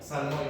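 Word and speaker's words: ψαλμοί: Salmoy, no salmón, ¿eh? Salmoy.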